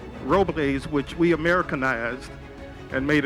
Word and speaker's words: Robles: Joseph P. Robles is how he pronounced his name.